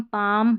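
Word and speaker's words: palm: इसको भी चाक नहीं चौक, और यहाँ देखिए कुड शुड, और यहाँ पर देखिए काम पाम बाम। तो यहाँ पर सभी में इन सारे स्पेलिंग्स की प्रैक्टिस कर लें, जहाँ पर L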